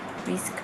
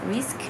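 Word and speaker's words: Risqué: how to pronounce this it's spelled r-i-s-q-u-e without the coma on top so i think it's risk instead of risky so i'm going to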